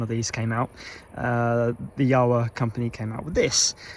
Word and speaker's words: Jawa: known as czechoslovakia and in the czech language the letter j is pronounced same as we pronounce y in the english language so the correct saying